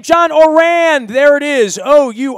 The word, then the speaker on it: Ourand: thanks crabman and I have learned how to pronounce his last name John or ran there it is oh you are a nd